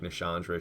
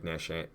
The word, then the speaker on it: Nashandra: Oh, she doesn't even say it like Nishandra. She says it like Nashandra.